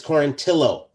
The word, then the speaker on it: Quarantillo: It's Quarantillo.